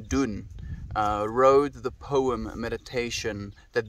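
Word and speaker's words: Donne: friends been a while young don pronounced young dun wrote the poem meditation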